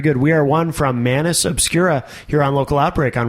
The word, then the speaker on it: Manus Obscura: Am I saying that correctly? It's pretty close. Pretty close? How do you say it? Just the same way. Oh, okay. Yeah. So so the way you say it's pretty close too. Yeah, it's not exactly the proper way to say it. Do you know what is? Not really. Oh, is it Latin? It is Latin.